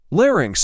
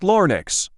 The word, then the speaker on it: larynx: t not guillotine shitfix larynx is not larnix i know it's not